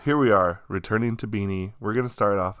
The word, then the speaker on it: BINI: are finally returning to beanie I know that that's uh I think it's pronounced beanie uh that's what I